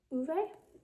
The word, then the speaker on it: Ove: And then at that same one, I got a mound called Uve, I think is how you pronounce it, by Frederick Bachman.